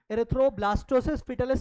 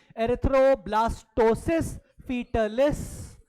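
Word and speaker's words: erythroblastosis fetalis: बीमारी का नाम है एरिथ्रोब्लास्टोसिस फिटलिस।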